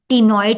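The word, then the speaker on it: Ctenoid: Osteo में टिनॉइड, सी silent बोलने में टिनॉइड आता है।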